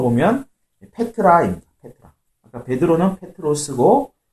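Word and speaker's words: Πέτρος: 여기서는 베드로를 헬라어 이 성경의 원어로 읽으면 페트로스가 되는데 그것을 이제 영어식 발음으로 베드로 이렇게 한 건데 페트로스가 되는데 그 뜻은 바위라는 뜻입니다.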